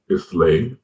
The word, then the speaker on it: Islay: And the Highlands, one looks like Islay, it's pronounced Isla, Islay.